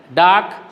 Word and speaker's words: dark: Dark, there, reply, under, her, downstairs, room, run, sparrow. So, in most of the words, R is a silent letter. It is not pronounced.